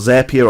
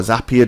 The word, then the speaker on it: Zapier: On the top of that, there's also a thing called Zapier or Zapier, depending on how you say it, and that allows you then to connect with a whole manner of third-party services as well.